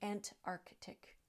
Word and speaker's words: Antarctic: very much related and people will say and narctic Antarctic and that is not correct we're missing a t at the end of the first syllable and that c is also missing it really should be said ant Arctic ant Arctic using both of